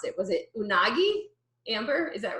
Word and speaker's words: Unagi: Friends episode on the, I hope I don't mispronounce it. Was it Unagi? Amber, is that right? Sorry, yep, was on mute. Yeah, Unagi.